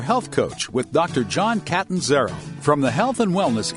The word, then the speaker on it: Catanzaro: Now, Catanzaro, is it Catanzaro? Catanzaro? It's Catanzaro.